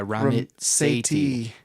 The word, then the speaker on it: Ramit Sethi: And I have a great book recommendation is I Will Teach You to Be Rich by Ramit Sethi. That's how you pronounce it.